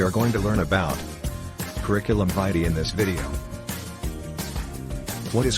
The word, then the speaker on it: curriculum vitae: Now, the word curriculum vitae, actually the right pronunciation is curriculum vitae, but the popular pronunciation is curriculum vitae. Okay, that depends on how you use, but vitae is the right thing to use.